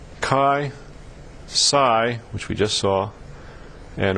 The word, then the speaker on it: Psi: it's the letter Sai it's pronounced Sai and it's spelled PSI it's not a proper